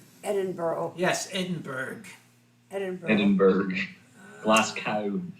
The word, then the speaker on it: Edinburgh: Louisville is straight out just like it's not Edinburg Edinburgh yes Edinburg Edinburgh Edinburg glasow well we have